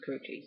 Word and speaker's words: Karrueche: been with kou kuchi actually I learned that her name was kuchi so I'm going to say it right Chris has been kuchi